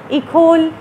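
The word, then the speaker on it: École: किया वो था द इकल। इकल, ये इकोल भी आप इसको पढ़ सकते हैं, ये इंस्टीट्यूशन इकोल आप पढ़ लें इसको, लेकिन इसकी सही प्रोनाउंसिएशन है इकल।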